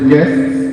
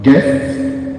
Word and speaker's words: guests: Kinesia, the word is guests. It's a struggle for me to pronounce the S on guest, but guests is the word.